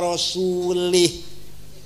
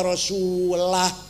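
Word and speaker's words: وَرَسُولُهُ: Ada orang baca Quran salah. Wa annallaha bari'um minal musyrikin wa rasulih. Allah tidak melindungi orang musyrik dan tidak melindungi Rasulullah. Salah. Bacanya harus wa annallaha bari'um minal musyrikin wa rasulah.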